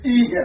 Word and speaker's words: Ihe: We pronounce it Ihe. It's not Ihe. It's Ihe, light.